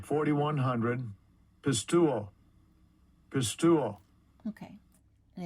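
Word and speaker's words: πιστεύω: And let's see how that is actually pronounced. Strong's G 4100. Pistuo.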